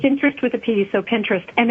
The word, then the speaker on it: Pinterest: it out for you p-i-n-t-e-r-e-s-t it's like interest but pinterest pin p-i-n-t-e-r-e-s okay all right it's interest with the pd so pinterest and it's phenomenal um